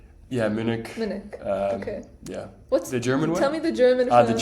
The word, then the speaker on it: Munich: And do you feel like, because you said that you really enjoyed your studying, am I pronouncing Munich correctly? Yeah, Munich.